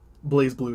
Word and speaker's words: BlazBlue: BlazBlue is how you say it.